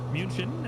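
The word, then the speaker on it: München: uh munich airport or munchin as the germans would say i'm sure i pronounced that horribly punchkin uh john that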